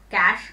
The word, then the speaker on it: cache: Pronounce it as cache memory.